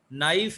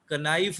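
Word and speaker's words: knife: हाँ, नो में के साइलेंट होता है, ये कनो नहीं पढ़ना। नॉलेज है, कनॉलेज नहीं है। नाइफ है, कनाइफ नहीं है।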